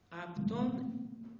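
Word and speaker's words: αὐτόν: Aptón, equinosen. Aptón es el que en español, en griego, la Y se pronuncia en esta palabra como si fuera F.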